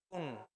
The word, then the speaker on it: 분: Como es 몇 no suena 분, sino que suena pun. 분. Porque como que el sonido, por ejemplo, se queda pegado y baja fuerte. 몇 분. Algo así. 몇 분. 몇 분. Entonces 몇 no es 분. pun, sino pun.